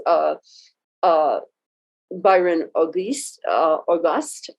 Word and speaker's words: Auguste: uh byron auguste uh auguste i think is is the pronunciation from opportunity at work